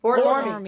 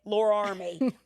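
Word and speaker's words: Fort Loramie: I'm going to say it right. Fort Lormy. Out of Fort Lormy. I always want to say Lore Army.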